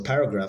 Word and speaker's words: paragraph: on the second syllable so paragraph has the stress on the first syllable it can't be it